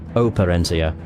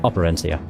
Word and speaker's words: Operencia: I'm also realising that the game is pronounced Operencia, but I'm probably going to call it Operencia.